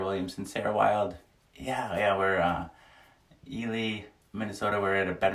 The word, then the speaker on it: Ely: So yeah, we're pronouncing it Eli, but it's Ely, E-L-Y. Ely, Minnesota.